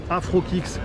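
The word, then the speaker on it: AfroKix: AfroKicks, comme ça se prononce, comme ça, mais tiens, tu me le tourneras si tu peux avec la technologie d'Hollywood, tu vois. Afro comme Afro, Kicks, K-I-X.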